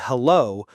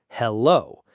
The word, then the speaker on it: hello: Many learners say hello with equal stress on both syllables. Hello. But we actually stress the second syllable more.